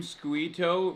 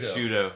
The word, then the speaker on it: Sciutto: Wait, you saw CNN anchor Jim Squito retweet it? How do you say his last name? Schuto. Schuto. Ok, that's... Like prosciutto?